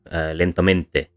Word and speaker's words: lentamente: For example, we take a 4-syllable word here, lentamente, which is slowly. The first syllable is weakly stressed, the second is unstressed, the third is strongly stressed, and the fourth is unstressed.